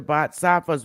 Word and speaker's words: Bodhisattva: enter, Bodhisattva, and enter into the Bodhisattva's way of life.